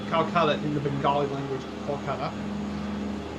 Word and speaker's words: Kolkata: However, they changed its name till 2001 and named it Calcutta in the Bengali language, Kolkata. Calcutta is the anglicized form of it. To match the local pronunciation.